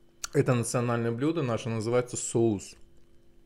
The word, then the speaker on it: соуз: национальное блюдо наше называется соус Ну как у на русском соус только у нас в конце з и ударение падает на у замечательной сыр полезный вместо